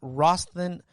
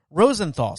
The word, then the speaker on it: Rosenthal: make sure i say her name right jane rosten rosenthal sorry jane rosenthal and robert de niro as